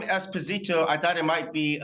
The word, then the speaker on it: Esposito: And in Italy, they pronounce it Esposito, not Esposito. Okay.